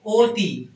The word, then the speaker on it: অতি: দেখো অতি অদ্যপক্ষ মন এগুলোর ক্ষেত্রে অর উচ্চারণ কিন্তু ও এর মত অর উচ্চারণটা কিসের মত ও এর মত যখন আমরা অতি বলতেছি অতি অতি ঠিক আছে এক্ষেত্রে আমাদের উচ্চারণ হচ্ছে অতি দেখব শব্দের উচ্চারণ তোমাদের